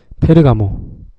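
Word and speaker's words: Ferragamo: 그리고 또 그다음에 좋아하는 거 페르가모, 살바토레 페르가모, 페레가모 발음 좀 꼬였네. 페르가모라고도 하고 페라가모라고도 합니다.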